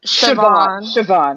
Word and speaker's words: Siobhan: It's Siobhan. Are you talking to me? Yeah, there. Yeah. Yep. Me? Hello? What's up? What'd you say? Hi. Saban, you said? Saban? It's Siobhan.